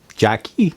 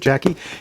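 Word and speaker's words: JAKI: It says J-A-K-I, so Jackie. Maybe that's how you pronounce it, Jackie.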